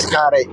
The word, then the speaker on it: Xcaret: I don't know if I'm pronouncing it right. But Xcaret, yeah, I've actually been. I know a guy who owns a good 40% of Xcaret. oh, that's how you pronounce it.